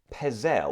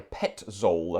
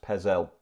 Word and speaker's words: Petzold: family that this was actually composed by Christian Pez L or Pet Zoll as it's written but pronounced Pez L but anyway but it's a beautiful piece and